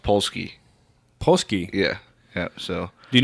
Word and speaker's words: Polski: Yeah, it's pronounced Polski.